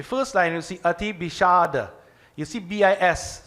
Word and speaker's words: विषाद: line you see Ati Bishada. You see B-I-S. So I'm not saying Bisada, I'm saying Sh. The S with the dot underneath it is pronounced Sh, not Sa.